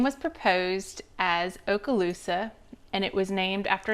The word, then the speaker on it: Okaloosa: Let's talk about Okaloosa County.